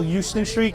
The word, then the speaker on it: Houston: See, in Manhattan, they call Houston Street, they call it Houston Street. Oh, no, it's Houston. For sure. It's spelt the same way, but for some reason we always call it Houston.